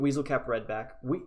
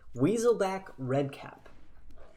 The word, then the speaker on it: Weaselback Redcap: But we do get Weaselcap Redback. Nope, I said it wrong again. Weaselback Redcap on turn 1, which is not as good as Venerable Knight.